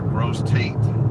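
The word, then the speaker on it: Grosse Tête: We want to know how the locals pronounce the name of the town. Like this one here, Gross Tate.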